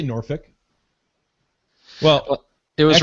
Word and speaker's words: Norfolk: uh uh it doesn't you don't pronounce the L but in my defense